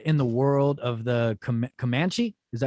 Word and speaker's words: Comanche: this reads set in the world of the comanche is that how you say it right you guys yeah that was yeah making sure i'm saying it right comanche nation uh 300 years ago the action thriller